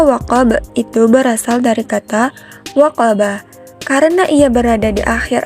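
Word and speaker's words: وقب: kita wakafkan dengan sengaja, sehingga waqaba menjadi waqab ketika kita membacanya. Dan pantulannya harus diberatkan karena ia qalqalah kubra, seperti yang telah Ibu baca tadi dengan pembacaannya yaitu waqab.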